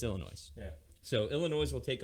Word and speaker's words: Illinois: reads things the way it should be, Phonetically. yeah, it's Illinois.